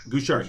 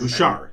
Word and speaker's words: Gouchard: Gouchard. So James Louis Gouchard. Gouchard. Yeah, yes, Gouchard. Okay, silent D.